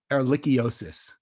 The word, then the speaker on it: ehrlichiosis: Ehrlichiosis.